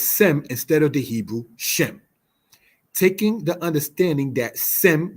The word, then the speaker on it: Shem: Shem is the Hebrew word. Sem is the Greek transliteration of such. Since Greek does not have a sh sh syllable, it is thus in metathesis said as sem.